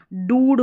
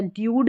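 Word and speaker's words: dude: Flute हो गया, ये डूड हो गया, ड्यूड नहीं पढ़ते, ये हो गया ब्रूट, बी आर को ब्र करके पढ़ा जा रहा है, तो ये हो गया ब्रूट।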